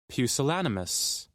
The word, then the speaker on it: pusillanimous: Pusillanimous. See that word there? Showing a lack of courage. I want to hear the pronunciation. Click the speaker. Pusillanimous.